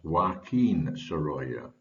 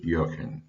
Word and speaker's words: Joaquin Sorolla: The second is to tell you that I am reliably informed that Joaquin Sorolla's name should be pronounced as Joaquin Sorolla, but I find it much easier to use Joaquin.